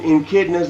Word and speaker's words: Echidna: So basically we have Robot and Echidnas and Shitnas, I don't know how to say it.